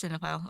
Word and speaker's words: cinephile: Pompo the s- I don't want to pronounce it wrong. C- Cinephile? Oh, it is cinephile.